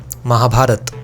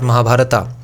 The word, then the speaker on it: Mahabharata: in in eastern India those words are usually pronounced without that a like ramayana not ramayana Mahabharata not Mahabharata similarly in Bengali we